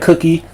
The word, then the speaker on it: CUQY: I think it's spelled pronounced like cookie.